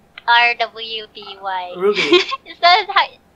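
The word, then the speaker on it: RWBY: iFlix has, how do you pronounce that? Ruby. R-W-B-Y. Ruby. Is that Ruby, yeah.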